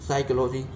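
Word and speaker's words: psychology: साइकोलॉजी, मनोविज्ञान, P silence word है।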